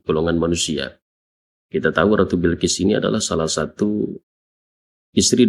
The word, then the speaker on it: Bilqis: Bikasril Bai dikasrkan bnya. Jadi memang kita tahu ada yang membacanya Balqis, ada juga yang membacanya Bilqis. Tapi yang afsahnya paling fasohatnya itu dengan dikasrkan bnya dibaca Bilqis begitu ya.